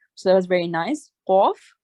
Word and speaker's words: qaf: So there are similar sounding letter. One is kaf, which is a thin pronouncing letter, kaf. So when you open your mouth, kaf. And the second one is qaf. So that's where you round your mouth. So qaf. So qa, not ka.